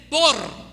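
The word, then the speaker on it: בור: e r ver para decir cisterna se dice bor b o r bor Okay Cómo se dice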